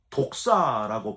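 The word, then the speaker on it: δόξα: 영광과의 그 영광은 히브리어로 독사라고 발음을 하는데 광야의 성막과 솔로몬 성전에 나타났던 하나님의 영광을 표현할 때 쓰는 표현이에요.이 독사라는 표현이 뱀이란 뜻이 아니고요. 발음이 독사인데 하나님의 영광.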